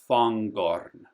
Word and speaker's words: Fangorn: So, Angmar is just like an in English an ing, like running, whereas here you pronounce the G Fangorn. Um so, there's a little